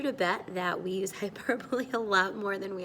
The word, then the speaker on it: hyperbole: It looks like hyperbole, but remember, it is not pronounced that way. It's hyperbole.